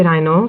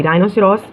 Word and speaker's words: rhinoceros: अब वो पूछ रहे हैं कि राइनो को उसको अपनी खाल किस तरह से मिली. राइनोसेरोस, राइनोसोर्स, राइनो तीनों प्रोनाउंसिएशंस करेक्ट है.